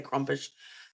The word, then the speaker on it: Krampus: I generally say Krampus. Some people say Krumpish, you Krampus.